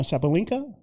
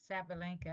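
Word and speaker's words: Sabalenka: Um, but is it Ara Sabalinka? Sabilinka. Sabalinka. World number one right now.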